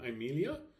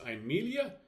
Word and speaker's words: Amelia: diagram, we discover that the penult is short, therefore the accent will fall on the antepenult. And there it is. I have circled it so that you can see it. It is pronounced Amelia, not Amelia, but Amelia.